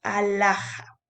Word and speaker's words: alhaja: Por ejemplo, cuando dices alhaja, escucha bien, estoy diciendo a-la-ja. La H no suena, por ende, se va a ir con la segunda vocal, acompañada de la consonante.